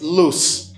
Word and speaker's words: loose: what to say it's loose loose and the first word you hear s sound but the second one is loose lose for letter s you hear Z okay letter s only